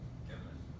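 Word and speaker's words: جمل: From this pronounced in the Egyptian fashion as Gammon.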